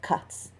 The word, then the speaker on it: ghats: Varanasi is made up of more than 6 kilometers of ghats, pronounced with a soft K, on the western bank of the Ganges.